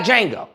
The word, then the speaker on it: Django: They got Django. Okay. the D is silent.